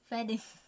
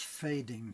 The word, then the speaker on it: fading: not be dark red that's fading feding not feding okay how to pronounce that fading feding a a no e e feding yeah you just said feding again it's fading fading fading yeah say a a say aid aid aiding aing fading feding so you go